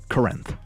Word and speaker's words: Corinth: said, I asked, okay, is it Corinth or Corinth? And she said it's Corinth. So, I think she leans more C. Now, Bobby will say, will you combine the two? I'm just repeating what she told me. So, maybe maybe it's a little bit of both, but it's Corinth. She says it quickly, so it's Corinth.